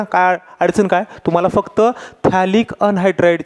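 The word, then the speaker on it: phthalic: अडचण काय तुम्हाला फक्त थॅलिक अनहायड्राइड ची गाणी आणि स्ट्रक्चर काढता आलं पाहिजे हे बनवतात कसं ते पण सांगेन मी तुम्हाला थॅलिकची स्पेलिंग पीएच पासून असते पी सायलेंट असतं है ना लक्षात आलं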